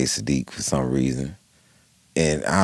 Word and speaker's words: Siddiq: My name is Siddiq. His name is Saadiq. Right. It's actually pronounced different.